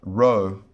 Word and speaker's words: rho: sounds like r as in rug rug that's rho our next letter is the greek letter sigma